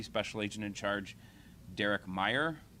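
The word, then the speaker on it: Mayer: first from Deputy special agent in charge Derek Meyer it's uh pronounced Meer it's spelled m a ye R Derek is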